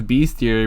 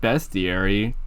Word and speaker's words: bestiary: the beastiary you know I always pronounced it as beastiary but it's just bestiary but wouldn't beastiary make so